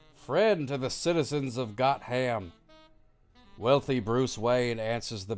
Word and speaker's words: Gotham: Well, most people pronounce it Gotham. Wrong. Gotham. Gotham.